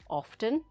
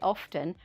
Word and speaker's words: often: and this is because i feel often with a t is the right pronunciation for a serious situation lastly i say often when i'm feeling stressed